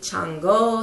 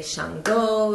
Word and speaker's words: Chango: Shango some people say Chango some people say Shango it's spelled c h a n g o I've seen people spell